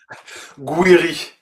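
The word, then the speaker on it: Gouiri: Two goals from uh how do you pronounce his name? Is it Gueri? Guiri Gueri um but also from Nathan and Janeri.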